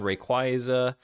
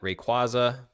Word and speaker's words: Rayquaza: Rayquaza. Uh, why' I say it like that? Rayquaza.